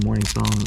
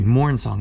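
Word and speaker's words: Mournsong: For those who don't know, Marilyn Morning Song is a black creature from Morning Tide who, excuse me, Mourn Song, not Morning Song.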